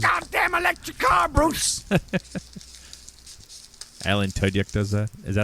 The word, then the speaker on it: Tudyk: Alan Tudyk does that.